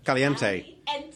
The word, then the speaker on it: Caliente: All right, how do I pronounce it? Caliente.